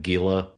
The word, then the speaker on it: Gila: People who like the song, people who have heard the song repeatedly that never uses a hard G say, "Oh you, oh yeah, I love them. They do that song Gila Monster."